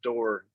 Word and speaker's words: Doerr: Actually, some people pronounce it Doer or it's actually pronounced Door.